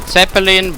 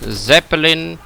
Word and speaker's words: Zeppelin: also their Zeppelin crewmen, or as in German it's actually Zeppelin, but in English the spelling Zeppelin is accepted.